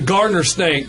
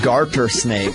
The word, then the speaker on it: garter snake: Canada I believe we'll go with the gardener snake hmm sorry it's the garter snake you're garbage said it wrong no no